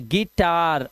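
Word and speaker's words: guitar: जैसे ई ध्यान रखना यू है लिखा लेकिन आवाज देखो ई क्यों आई आया हुआ है साथ में तो गिटार।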